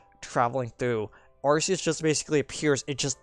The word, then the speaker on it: Arceus: But, yeah, it was like, I mean, technically his name is supposed to be pronounced Arceus because he's supposed to be like arcane, like arcane in the arcane with a K, as in like it is an old antediluvian entity.